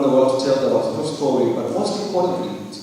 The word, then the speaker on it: Watoto: That's very good because most people say Watutu. It is pronounced Watoto and it means children.